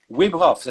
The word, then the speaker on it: Wim Hof: Wim Hof, c'est comme ça se prononce.